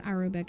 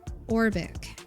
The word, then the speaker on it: Orbic: I've been saying it wrong this whole time. I always thought it was Arabic. It's Orbic Amber.